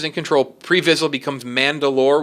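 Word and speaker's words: Mand'alor: control pre visible becomes Mandalore which I believe is how you say it spelled manda apostrophe a lor that's like the leader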